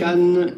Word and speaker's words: Cannes: Now, We know the pronunciation. say Cannes. not Cannes. It's Cannes.